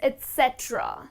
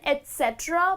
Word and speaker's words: et cetera: How do I use the word etc, which actually means etc? That's the correct pronunciation, etc, because many people kind of pronounce it incorrectly, but the correct pronunciation is etc.